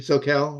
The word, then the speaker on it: Soquel: but I have a beautiful bottle from the soal Vineyards in soal region of so is that right am I saying it wrong Stephanie soel okay yeah okay sorry I was that's I